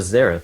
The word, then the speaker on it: Xerath: did pick up a zerth yes and I think zerth is the is the um sort of widely known pronunciation of that but he's a very